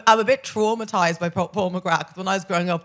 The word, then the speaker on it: McGrath: Paul McGrath who's the Paul McGrath Paul McGrath yeah we don't pronounce the th who was a uh